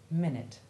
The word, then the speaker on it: minute: the following plain text the short u4 sound is the same as the short i1 sound of it or bit and though it is found in very few words two of them are very important and common these are busy and minute and it's appropriate that